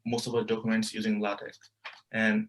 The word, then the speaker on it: LaTeX: be like going through latex so just to say it's not pronounced latex it's latex uh and like this